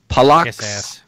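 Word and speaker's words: Palacz: much appreciate you so Polacks I I think I don't know if I'm pronouncing it right but it's PA la CZ basically I looked it up it's like smoker in Polish so this guy's obviously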